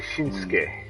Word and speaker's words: Shinsuke: Well, okay, yeah, you just said names could be a weird case, because Shinsuke Nakamura, that's spelled Shinsuke, but they say Shinsuke. Yeah, they dropped that last U.